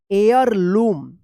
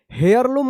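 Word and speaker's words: heirloom: एयर लम। एयर लम पढ़ा जाएगा। यहां पे भी एच साइलेंट रहेगा। यानी हेयर लम मत पढ़िएगा।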